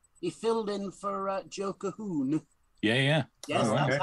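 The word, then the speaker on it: Colquhoun: He filled in for Joe Cahoon. Yeah. Yes, Oh, that's okay. how it's pronounced. Cahoon.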